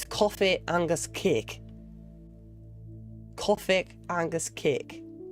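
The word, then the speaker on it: cofaidh agus cèic: How you pronounce that is coffee angus cake.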